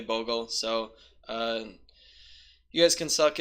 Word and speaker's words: Bogle: it's named after slippery I call it boggle but it's technically Bogle so you guys can